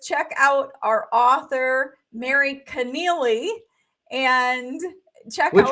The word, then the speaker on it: Connealy: just check out our author Mary Connealy and check out which rhymes with what?